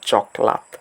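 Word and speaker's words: cokelat: ওরা just চকলেট দেখেন সি কে উচ্চারণ করা হয় চ এর মত এবং বাকি যা যেরকম ভাবে আছে ঠিক সেভাবে উচ্চারিত হবে। অর্থাৎ সি ও কে এল এটি হচ্ছে চকলাত।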